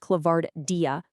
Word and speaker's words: ClavardIA: That's pronounced ClavardIA.